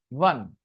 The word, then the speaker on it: won: One. India won. WON is pronounced one.